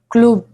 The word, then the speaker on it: club: How about this one? Club. Club. Club. Ah. Which means club. Again, that is also pronounced.